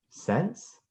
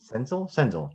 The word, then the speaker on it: Senzel: Then we got Nick Sense. If I said his name right? Senzel. Nick Senzel is how you say Nick it.